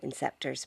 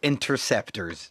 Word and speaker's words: Interceptors: You might also know him from the BBC's Scam Interceptors programme. Interceptors. I knew I'd said it wrong, but I couldn't think why. Hot kettle black. It's pronounced Interceptors, Tara.